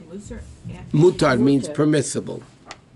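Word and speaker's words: מותר: He didn't say mutter, he said mutter. Oh, mutar. Oh, One that's second. a different one. There's one, permissible is spelled mem, vav, tov, resh, and musar, admonishment, Right. okay, it's spelled with a samach.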